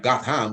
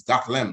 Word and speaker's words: Gotham: with howard sounds not it may look like got ham but it's goth lamp that's what we call